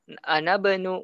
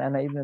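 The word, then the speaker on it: أنا ابن: Jadi bacanya ana benu ya, bukan ana ibnu tapi ana benu.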